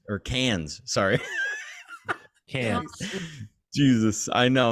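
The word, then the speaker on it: Cannes: his way from valence to a villa in kennys or cans sorry okay Jesus I know I'm so sorry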